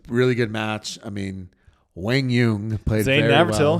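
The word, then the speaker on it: Quang Duong: It's not Kwang Duong? It's not Kwang Duong. It is Wang Yung, and we're going to pronounce it correctly on this show, or at least how they say.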